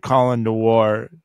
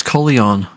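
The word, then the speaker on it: Colion Noir: Colin Noir brought this up. Did you hear about the kid that protected his family with the pistol? I actually heard his name pronounced. Apparently, it's Coleon.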